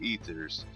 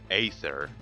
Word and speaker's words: Ether: that you can't get ethers but like and also your pronouncing ether wrong aether like the ether foundation for Pokemon which yes I have